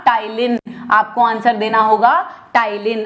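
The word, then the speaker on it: ptyalin: बेटा टाइलिन, ठीक है, टाइलिन, और एक होता है लाइसोजूम। अब टाइलिन को टाइलिन ही कहा जाता है, पी साइलेंट होता है, लाइसोजोम को भी लाइसोजोम ही कहेंगे हिंदी में, ठीक है।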